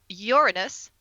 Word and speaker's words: Uranus: public like Society watching we have Uranus that's how we pronounce it Justin yes and the